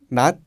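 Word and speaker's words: 낮: Cachio es la conjugación del verbo cada que significa il nat. Nat. Si no hubiera tenido la j aquí abajo, el sonido sería na. Na, que significa yo, pero con la como la pronunciación es nat.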